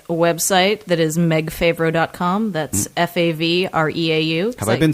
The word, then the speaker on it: Favreau: It's some of my family says Favreau and some says Favreau, and I am fine with either.